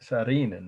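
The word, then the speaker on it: Saarinen: architect's name is sarinan that's finnish having known a finnish exchange student in high school i learned from her that everybody's name in almost everyone's last name in finland has double constant double vowels sorry s a a r i n e n again s double a r i n e n sarin and that's how you pronounce it and this was the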